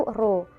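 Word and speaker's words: rho: tersusun massa jenis itu dilambangkan dengan huruf P seperti itu dan dibacanya itu roh menurut sistem satuan internasional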